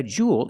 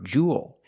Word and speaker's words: jewel: A jewel is a precious stone. So these are precious stones. Pronunciation. Precious. Precious stones. And remember, jewel. It's not jewel, it's jewel jewel. Like pool and cool.